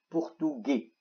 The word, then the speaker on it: portugais: portugais. الاس لا تلفظ.